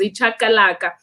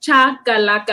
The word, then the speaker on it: chakalaka: There's a dish, the national president actually made it for one of the Japan shows, which is ichakalaka. And so you can Google that one. In fact, it's chakalaka.